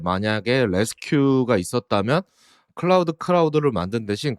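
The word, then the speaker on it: Resque: 작업을 할 때 만약에 레스큐 있었다면 클라우드 클라우드를 만든 대신 그냥 레스큐를 썼을 거라고 얘기하기도 했습니다 여기서 레스큐는 뭐 구조하다 그 발음을 그냥 도용한 거지 갖다 쓴 거지만 레스트 이제 뒤에는 Q 이죠 그래서 루비에서 레디스 기반으로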